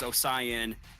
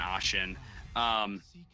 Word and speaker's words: Ashen: So it's just like with Ashen when we didn't know how I can't talk with how we pronounced his name. We thought it was Osian and something else that wasn't Ashen.